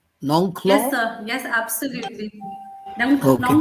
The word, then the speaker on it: Nongkhlaw: Now, Professor Nongklo, am I doing the correct pronunciation? Nongklo?